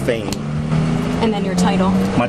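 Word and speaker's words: Phayme: Last name is spelled P H A Y M E, pronounced Fain.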